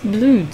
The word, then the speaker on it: Bloor: in the intersection of Bloor Street. It's pronounced Blood Street.